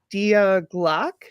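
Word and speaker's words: Die Glocke: Something called the diag. It's spelled die. D I E G L O E. It's German for the bell.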